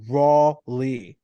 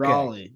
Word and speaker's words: Raleigh: It's really it's pronounced raw, R-A-W dash Lee. Raw Lee. Okay. Raleigh.